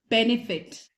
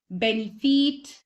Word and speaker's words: benefit: Next word is benefit. Benefit या benefit नहीं होता. Benefit होता है.